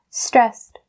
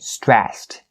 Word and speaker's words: stressed: Stressed. And if you don't have the habit of pronouncing the ed part yet, try to get into it because it's really sensitive in a native speaker's ears like Maddie's here.